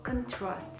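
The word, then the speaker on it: contrast: флоту графства что важно во втором слове контраст необходимо поставить ударение на второй слог контраст потому что это глагол сравнивать и сопоставлять существительное кончилось иметь ударение на первый слог можете проверить слоях поэтому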